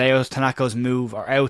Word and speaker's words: Ao: And Tanaka, or Ao Tanaka as it's correctly pronounced, we've been corrected, is the one that we'll focus on.